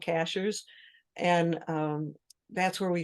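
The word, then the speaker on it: Cashiers: on it by the way Cashers sounds like a strange word uh it's spelled just like a cashier at the supermarket uh we actually have a town here in North Carolina called Cashers and um that's where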